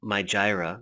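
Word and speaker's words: Mijireh: And I kind of skipped over it before as I was going through, but you notice this thing, My Jira. That's actually how you pronounce it, My Jira.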